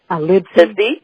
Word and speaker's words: Livesey: How do you pronounce that? Livesey.